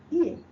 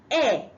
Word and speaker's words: ear: Ear. You hear with your ear. Some people call it air. I want to make my air. If you say air, you are pronouncing A-I-R.